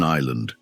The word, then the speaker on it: island: And don't forget the S in island.